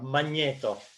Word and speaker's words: Magneto: Yes, it is Magneto, or Magneto, as is pronounced in Italian.